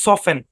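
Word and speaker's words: soften: ও এফ টি ভাই এই অংশের উচ্চারণ কিন্তু সফট কিন্তু ই এন আসার কারণে হ্যাঁ এটাকে টি কে সাইলেন্ট করে দিছে ওরা করছে ভাই আমি করি নাই যারা ভাষাটাকে বানাইছে এই শব্দের উচ্চারণ সফেন সফেন সফেন হ্যাঁ উফ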